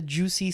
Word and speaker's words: Jussie: I don't know if you remember the Jussie Smollett guy. Yes, yeah. What's it, how do you pronounce his name? Jussie.